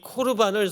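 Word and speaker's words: קָרְבָּן: 반 에드 에서 아시죠 성경에는 고르 반이라고 에 기록돼 있는데 에 히브리어를 읽으면 코르 반이라고 읽을 수 있어 2 코르 반을 성경사전 해서요 에 그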